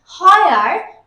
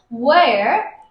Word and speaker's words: where: প্রথমেই বলে রাখি এদের উচ্চারণে আমরা প্রচুর ভুল করি, আমরা বলি হয়ার হুইচ, তো এটা কিন্তু হয়ার না, এটা হুইচ না, এটা হচ্ছে where which, where which।